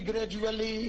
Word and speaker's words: gradually: यहाँ DU का उच्चारण ज हो जाएगा. ज. Here DU is ज. जू. D का उच्चारण यहाँ ज.